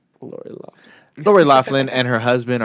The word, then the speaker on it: Loughlin: Lori Loughlin. Like you just said. Lori Loughlin.